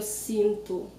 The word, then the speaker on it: sinto: Also notice how I pronounce the O at the end of the word. I say, eu sinto. So it's very common to hear the O sounding U.